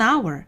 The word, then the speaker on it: hour: an EG 이렇게 an hour hour 뭐예요 한시간 두 시간 할 때 시간이란 뜻이에요 자 그런데 아은 h 소리가 안나요 그래서 발음이 모음으로 시작하기